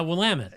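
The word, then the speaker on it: Willamette: river's name John you don't don't ask me will Amit uh yeah willit yeah that's right you reminded me but that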